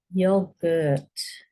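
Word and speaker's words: yoghurt: Yogurt. That's got a silent H in it.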